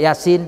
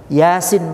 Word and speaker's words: Yasin: koma koma diatas feat Yassin bacanya bukan ya sin salah berapa dia tak mau